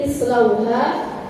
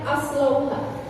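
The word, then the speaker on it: اصلوها: Jangan ibu baca aslauha.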